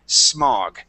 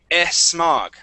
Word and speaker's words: smog: you get to smog remember not to pronounce that e sound okay go ahead and read B okay dirt contamination waste mug smug oh you did it okay let's try let's try it one more time okay uh remember when you get to it don't say esmog okay so try it one